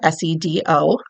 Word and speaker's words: SEDO: by the acronym SEDO, S-E-D-O, and pronounced SEDO, at least in the US DOT.